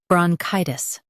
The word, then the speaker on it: bronchitis: Bron, chi, tis, bronchitis. Stress chi and keep tis soft.